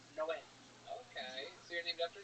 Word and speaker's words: Noé: Like in the Bible, the Spanish translation, it's Noe is Noah, but it's pronounced Noé.